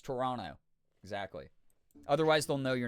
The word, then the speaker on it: Toronto: It's kind of the way that I make fun of people who come up this way and they say Toronto. No one around here says Toronto. Uh, it's Toronto.